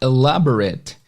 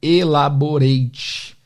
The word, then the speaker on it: elaborate: Então esse R-A-T-E tem o som do R-I-T, ret, ou R-E-T, né?